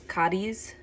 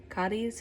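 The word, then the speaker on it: Cádiz: place and this is cadis cadis am I saying it right so the locals um in southern Spain they pronounce the Z as a th so they say kth but I couldn't bring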